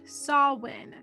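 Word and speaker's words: Samhain: favorite holiday halloween originates from the celtic festival sawin and is spelled sam hayne like it is pronounced in supernatural but it is pronounced sawwin which can be confusing at times it is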